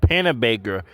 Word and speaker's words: Panabaker: Panabaker.